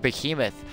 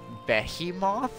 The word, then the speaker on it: behemoth: to pronounce it uh I think the first time I saw it I was like like beim moth I'm just like I was so dumb I'm just like I don't I don't know and then I told my friend about it he's like oh yes it's called It's pronounced Behemoth uh oh yes yes